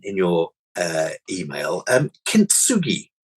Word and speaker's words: kintsugi: your uh email um kintsugi and I pronounced it right yes um so what I've